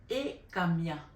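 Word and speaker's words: Hekamiah: Donc l'ange de ce jour s'appelle Ekamia. Ekamia s'écrit H-E-K-A-M-I-A-H.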